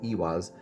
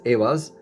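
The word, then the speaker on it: Ehwaz: Almost like Ewaz, as Awaz. So, you know, different people pronounce it differently, but this is the horse rune.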